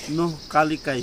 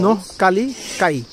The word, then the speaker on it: Nohkalikai: Actually, it is pronounced Nohkalikai Falls. Nohkalikai. Nohkalikai.